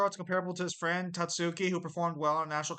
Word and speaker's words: Tatsuki: I do find it funny that you pronounced her name wrong. It's Tatsuki.